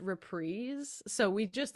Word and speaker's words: reprise: yeah I started my first band called Waltz reprise um even though I later learned that it's pronounced repre so we just like had a name that